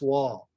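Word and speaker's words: Wahl: But that's an artist named Chris Wall. And Wall is spelled W-A-H-L.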